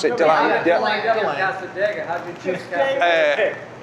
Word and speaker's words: DeLand: Is that how you pronounce it? Deland?